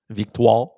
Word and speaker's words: Victoire: Chris, you can pronounce the Montreal Victorie. How we say that? Victoire.